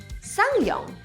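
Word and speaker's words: SsangYong: Just Sang-yong.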